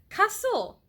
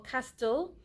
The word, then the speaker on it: castle: it is cast but if you're going to put the L e after the T that's where the law applies it does it no longer stays at cast Lou or Castel it becomes Castle okay so you have